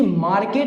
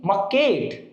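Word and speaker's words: market: इसे मार्केट नहीं बोलेंगे घसीट करके कि मार्केट, ये नहीं बोलेंगे, ये ध्यान रखना। इसे बोलेंगे मकेट, मकेट भी नहीं बोलेंगे, मकेट थोड़ी अच्छे से, ओके। इसका प्रोनाउंसिएशन मकेट होता है, मकेट, ओके।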